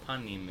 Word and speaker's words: panim: Why do you pronounce it different than Bubby did? She always said punim. Punim is Yiddish. Panim is Hebrew.